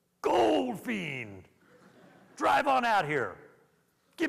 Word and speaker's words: Goldfein: I arrived and I had no idea that my name was actually pronounced Goldfein drive on out here